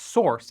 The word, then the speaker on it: src: src pronounced source is a common name for the folder that holds uncompiled code in a project.